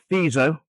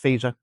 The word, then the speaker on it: Fico: You've got the Slovakian government carried out under under the very brave prime minister uh FISO. It it's spelled FICO, but it's it's pronounced FISO.